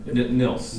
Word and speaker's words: Nils: Well, if you want to mispronounce it, it can be pronounced. There was Niles on Frasier, and that. He's the bane of your existence. Yeah, that guy just ruined my name.